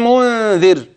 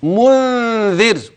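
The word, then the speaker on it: مُنذِر: متصل خلاص جميل جاءهم منذر ميم ساكنه اتى بعدها م متحركه ها يلا احسنت ادغام تماثل صغير طيب منذر نون ساكنه وبعدها ذال ستخفي ما شاء الله خدت بالك كلمه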